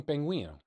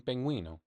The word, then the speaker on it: pingüino: Es un pingüino. It's a penguin. Es un pingüino.